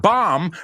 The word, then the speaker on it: bomb: say Tom Raider and bomb rhymes with Mom my mom is the